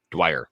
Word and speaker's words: Dwyer: Drawers, how do you say it? Dwyer. Dwyer.